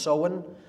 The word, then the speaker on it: Samhain: in the mid mid point of fall is so win pronounced so in it looks like samhain in english but it's pronounced so in uh in gaelic and that is halloween or